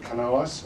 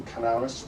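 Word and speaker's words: Canalys: This comes about from an analyst event called Canalis, or Canalis, whichever way you want to pronounce it.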